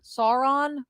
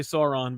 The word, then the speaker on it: Sauron: name i say sorry sauron i say sauron because that's how it's spelled okay sauron um he's